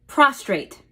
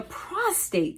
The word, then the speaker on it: prostate: only in men but so many people actually call it the prostrate with an R well guys it doesn't have an r in it no R in this word today we are talking